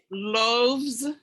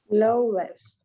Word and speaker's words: loaves: Loaves. It's like loaves. Loaves. You don't pronounce the A and you don't pronounce the E. Okay. And so it's loaves. Loaves. The S is pronounced like a Z.